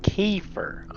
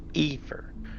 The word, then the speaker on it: Kiefer: How do you spell that? K-E... Like Sutherland? F-E-R. A-E-E. K-E-E. K-E-E. Kiefer. Okay, I said Efer.